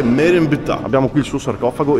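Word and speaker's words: Merenptah: Abbiamo appena chiesto al local beduino qui, non si dice Merenfa, si dice Merenbta.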